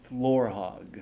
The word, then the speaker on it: Florhaug: my guest today Laura Hogg yes yes you said it right which many people don't do thank you sir yeah